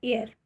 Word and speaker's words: heir: इसको हेयर नहीं पढ़ेंगे, एयर ही पढ़ते हैं, इसीलिए ये प्रोनाउंसिएशन में एयर साउंड होता है। AIR एयर, HEIR एयर।